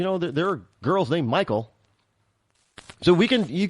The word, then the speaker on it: Michael: like Michael and and pronounced like Michael not Michelle it's Michael so remember the actress Michael